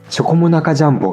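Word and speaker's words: チョコモナカジャンボ: ことがあるけどノーアクセントで続けてチョコモナジャンボって言うと日本人っぽい発音になります。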